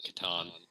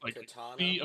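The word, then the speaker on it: C'tan: fairly saying it's just Katan so is it like katana like weabo no no it's like C apostrophe T an yeah I just pronounce it as Katan oh like kathon but Katan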